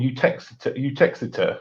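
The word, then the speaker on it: Uttoxeter: And there's even like towns in the UK which are pronounced, there's like somewhere that called Utexeter, which is would be spelled phonetically pronounced Utto Exeter.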